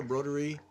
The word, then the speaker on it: Broderie: Broderie.